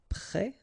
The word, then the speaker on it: prêt: Then you've got prêt like that, so final S, but then of course you don't pronounce it.